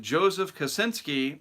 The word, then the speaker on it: Joseph Kosinski: And by the way, word has it that they're going to be rebooting Twister with Joseph Kosinski.